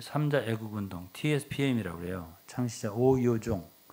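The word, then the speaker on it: 吳耀宗: 창시자 오요종. 오요종이라는 사람은 영어로는 오노종. 이게 근데 중국 발음은 오유종 이렇게 하네.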